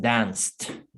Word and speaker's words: danced: Entonces, como la regla dice que pronunciamos con T cuando el verbo está en pasado, si el verbo en la forma original termina con estos sonidos. Como es el sonido de la S, es danced.